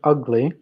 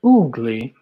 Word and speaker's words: ugly: Pronunciation of ugly. Ugly. Blech. Right? Ugly. Ugly. Not oogly.